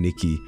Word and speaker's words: 2kki: It's pronounced Nikki, Joel. Okay, two is, okay, I get it, okay.